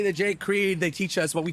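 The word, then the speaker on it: Kriegh: Last name is pronounced CRE.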